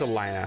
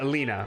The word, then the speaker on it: Elina: I think it's Elena. How would you say that? Yeah, it rhymes with Nina. Yeah, Elena, right? Yeah. So, Alina.